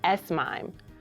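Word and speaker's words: S/MIME: The second method of email encryption is Sime. You spell it with an S followed by a slash, then the letters MIME, like a mime you would see performing in a theater.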